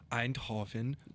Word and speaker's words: Eindhoven: I mean, obviously, this is just a demo that they're showing off at Eindhoven. I think that's how you say it. It is. It is. I was there this summer. Eindhoven.